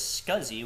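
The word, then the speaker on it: SCSI: to be LS scuzzy so LS s CSI pronounced as scuzzy which stands for small computer system interface list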